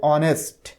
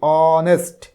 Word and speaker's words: honest: Consonant দিয়ে, কিন্তু এটার উচ্চারণ হচ্ছে অনেস্ট, এইচ এর উচ্চারণ হচ্ছে না। যদিও রয়েছে কনসোনেন্ট কিন্তু আমরা বলতেছি অনেস্ট, অ, প্রথমে আসতেছে অ, অ, তার মানে এটা ও, অনেস্ট, অনেস্ট।